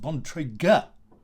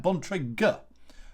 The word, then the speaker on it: Bontrager: are available and so this is pronounced bon trigger can you say that bontrager so you need to get the the emphasis on the right part of the seventh syllable so that's bontrager all right so the